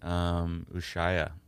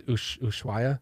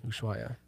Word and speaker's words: Ushuaia: I saw you play Ushaya. Is that how you say it? I don't know. Ushaya? I don't know. I thought it was Ushuaia. Probably. Ushuaia.